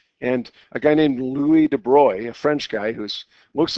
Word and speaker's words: de Broglie: to around 1930 and a guy named Louie debroy a french guy who looks like it's de Broglie but it's actually pronounced debroy he suggested by symmetry physics we've seen this